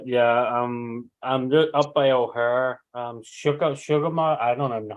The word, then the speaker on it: O'Hare: I'm just uh yeah I'm I'm up by O'Hare um sugar I don't know how you pronounce hair oh here oh here that's the airport so I'm still not trying